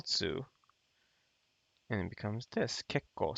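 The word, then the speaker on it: 結構: it becomes this kekko so you won't say kitsuko if if it's the these kanji's right so if you have this kanji ke koatsui it's pretty hot i did that wrong right so the pronunciations are ketsu and but you wouldn't want to read this as kitsuko when a kanji with this guy is conjugated then it just becomes kekko something to keep in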